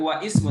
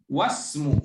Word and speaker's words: wasmu: Enggak wa ismu tapi wasmu wabenu.